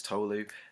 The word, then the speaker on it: Tolu: My name's Tolu. It's like tofu with an L.